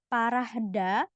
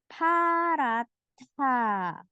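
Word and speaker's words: 파랗다: Nah, ini meskipun huruf H ya bunyinya, tapi bukan dibaca parahda, bukan. Tapi paratha.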